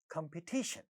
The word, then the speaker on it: competition: Competition, competition, look at this word, competition. Third syllable is getting, stressed, and therefore ta at the syllable initial position in this syllable is getting aspirated.